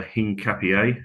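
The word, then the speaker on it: Hincapié: Um we've been obviously linked with uh Hing Capier, as I found out. That's the way you pronounce his name.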